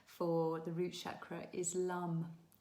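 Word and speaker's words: lam: Um so the the mantra or the seed mantra what we call it bja mantra for the root chakra is lum. It's spelled l a m but it's actually pronounced l.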